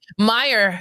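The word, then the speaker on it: Meijer: Do you pronounce that? Meyer. Meyer.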